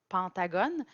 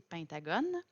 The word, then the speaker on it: pentagone: On est habitué d'entendre pentagone, mais la vraie prononciation, c'est pentagone.